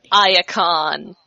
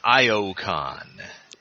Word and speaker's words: Ion: going way down to Icon. Yay. I I I believe you mean Ion. Yeah, says Thrust. Ah, Thrust says that, but the others pronounce it correctly. Oh, yeah.